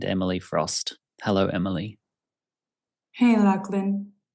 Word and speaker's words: Lachlan: But you're actually able to say it correctly, so feel free to say Lachlan.